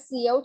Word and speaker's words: cout: Cout, I have told you that cout stands for character output. You can't pronounce it as scout. You have to pronounce it as cin or cout.